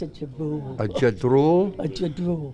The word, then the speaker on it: Ja-drool: A Ja-drool.